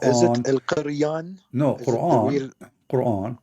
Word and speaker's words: Quran: No, is Quran. Quran. Yeah, but the is way an Aramaic you pronounce it in Aramaic, is is it Qur'an?